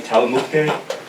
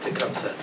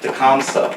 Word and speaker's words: Tecumseh: person's name, Talamuke? Did I pronounce his name right? Tecumseh. Comes up? Tecumseh, okay.